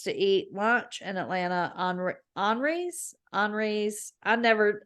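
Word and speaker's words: Henri's: eat lunch in Atlanta, Henry's. I pronounce it and she laughs at me. It's Henry's, but with an I, and it's French. But they have great, Henry's.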